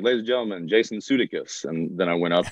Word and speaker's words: Sudeikis: I was just like, my name's actually pronounced Jason Sudeikis. At least that's how my dad says it.